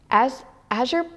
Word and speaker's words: azure: We have violet, we have rose red, we have yellow ochre, and azure blue. There it is. That's how you pronounce it.